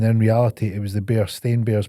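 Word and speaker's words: Berenstain: reality it was the bear stain bears pronounced with an a.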